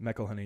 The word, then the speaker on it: McElhenney: Is that how you say it? McElhenney? McElhenney, yeah.